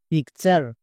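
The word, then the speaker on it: picture: ইউ আর ই চার পিকচার সি এ পি ক্যাপ টি ইউ আর ই চার ক্যাপচার এন এ নে টি ইউ আর ই চার নেচার তাহলে টি ইউ আর ই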